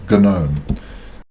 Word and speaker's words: GNOME: A lot of people will call it GNOME. I find that a bit cumbersome on the tongue, so I call it GNOME with a silent G.